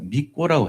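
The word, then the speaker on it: 巫女: 거기서 일하는 어 사람들은 어 믿고라고 해요. 믿고 믿고라고 하는게 발음은 그렇게 원래 안 나는데 믿고가 이렇게 쓰더라고. 믿고 무당이에요. 무당. 옷도 빨간 치마 있고 딱 했는데 무당들이 거기서 일을 해요. 무녀. 무녀. 이게 무녀잖아요. 무녀. 근데 발음을 믿고라고 하죠.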